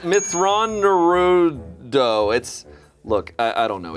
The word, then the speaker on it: Mitth'raw'nuruodo: Mithra-Naruto. It's actually pronounced Mithra-Naruto. Naruto. Matthew Naruto. It's Mithra-Naruto.